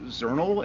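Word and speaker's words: Xournal: I guess Zernal. It's like journal but with an X.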